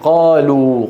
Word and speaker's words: قالوا: وإذ قالوا، قالوا آخرها واو ساكنة، لا تغرنكم الألف التي بعد الواو، هذه تكتب ولا تلفظ، وجودها كعدمها.